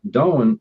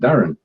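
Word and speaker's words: Darwen: Darwin is wrong. It's spelled D-A-R-W-N, but it's actually pronounced Darren.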